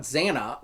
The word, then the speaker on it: Xana: As a kid, I originally thought Xana was spelled with a Z, because of the Z sound at the beginning.